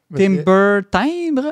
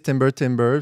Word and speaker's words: Timber Timbre: pas comment le prononcer Timber Timbre en français et anglais ou en a qui disent timber timber c'est comme un jeu de mot on peut dire